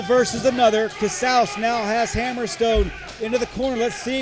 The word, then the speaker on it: Hammerstone: Hammerstone.